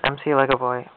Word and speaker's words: MCLegoboy: It is MCLegoboy, 5 syllables, not MCLegoboy. People screw that up all the time. If it was MCLegoboy, I'd have a lowercase c.